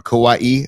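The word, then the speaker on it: Kauaʻi: It says the Msubi truck and it's from from uh Kauaii. It's right on the island of Kauaii, my favorite Hawaiian island. Uh or Kauaii, I should be I should do the correct pronunciation.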